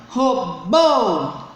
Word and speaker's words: robô: Aqui nesse caso, robô, ela é a última.